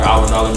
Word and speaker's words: Hour Dollar: And um essentially what that means is so phonetically it's our dollar like like like the money is ours but but when you spell it out I spell it with H.